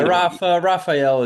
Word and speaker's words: Rafa: a younger, more talented Brazilian version of myself, Rafael. You go by Rafa, right? Or Rafa? I mean, Yeah, Rafael is okay too, but generally, Rafa is okay.